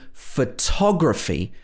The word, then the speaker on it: photography: schwa photo photo photograph in photography the first o is a schwa photography or photographer in the